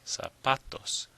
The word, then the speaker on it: zapatos: How about this one? Zapatos. Zapatos. Well, you probably hear that the stress is on the pa. Zapatos.